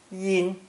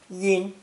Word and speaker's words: 阴: It's pronounced first tone, yin, yin, and indicates the north shaded side of a mountain.